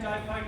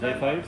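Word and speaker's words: xiphoid: अब जो स्टर्नम की हड्डी के नीचे लास्ट में एक पत्ते की तरह हड्डी होगी, लीफ जैसा, उसको बोलते हैं जाइफाइड प्रोसेस। क्या बोलते हैं? जाइफाइड।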